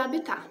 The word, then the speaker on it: habitat: Se escreve habitat, mas se pronuncia habitat. Não se esqueçam disso, porque muita gente confunde.